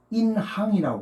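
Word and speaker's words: 银行: 중국에서는 인항이라고 그래요. 그래서 은은 중국 발음은 인인데 항으로 발음해요.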